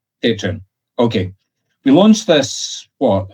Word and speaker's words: Patreon: Am I pronouncing that correctly? I always get it wrong. Is it Patreon or Patreon? Patreon. Patreon.